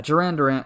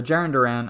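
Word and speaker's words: Jarren Duran: it um but yeah Jan Duran or jiren Duran I keep calling him Jan Duran cuz it Rhymes and I like that but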